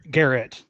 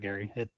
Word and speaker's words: Garrett: name okay cool yeah sorry Garrett not Gary oh Garrett okay terrible